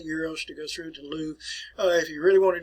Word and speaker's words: Louvre: The Louvre Museum, or Louvre, is what they pronounce it in Paris.